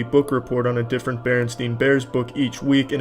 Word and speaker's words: Berenstain: And, strangely enough, I used to actually pronounce it Berenstain, but I was constantly corrected by the teacher and my parents saying, "Charlie, take that Brillo pad out of your fucking mouth and say it the correct way or you're not getting food tonight.